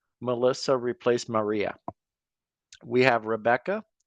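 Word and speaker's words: Rebekah: We have Rebecca, spelled with a K, but pronounced the same.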